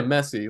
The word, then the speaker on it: Messi: Is that how you pronounce the guy's name? Yeah, Messi, Lionel Messi.